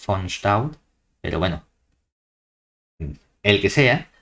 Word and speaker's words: von Staudt: Entiendo que es holandés o alemán, entonces lo pronunciaría como von Staudt.